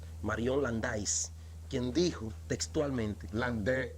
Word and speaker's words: Landais: landais quien dijo textualmente Land porque es un apellido francés se escribe landais pero el a se pronuncia e el Bongo ahí aprenda